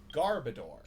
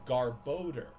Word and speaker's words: Garbodor: you would think that oh his name is Garbodor. It is not. It is pronounced Garboder.